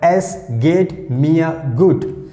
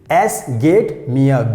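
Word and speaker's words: es geht mir gut: to reply so here i'm giving example like s gate mia good s gate mia good s gate mia good that means i'm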